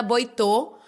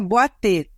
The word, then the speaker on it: Boiteux: da pauta canábica, e o meu sobrenome pronuncia Boatê, que é de origem francesa, distante, mas aí a pronúncia abre o início.